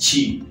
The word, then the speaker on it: QIDI: It's called a QIDI Tech, but when you pronounce it in Chinese, Q and I is supposed to be pronounced as Chi.